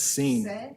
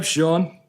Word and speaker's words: Sean: Or pronounce it as Seen. San, Seen, Shane. No, I don't know why I get Shane. There's no SH in it. So I'm Sean.